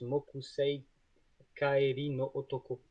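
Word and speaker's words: 木星帰りの男: Euh, D'ailleurs, oui, qui est traduit l'homme de Jupiter, mais qui n'est pas prononcé comme ça en VO, puisqu'il prononce Mokusei Kaeri no Otoko.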